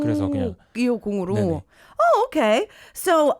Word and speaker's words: 이오공: 네, 그래서 그냥 250으로. 네네. Oh, okay. So it's pronounced 250, and the reason why he used to write it this way is because his real name is Ho-hyung.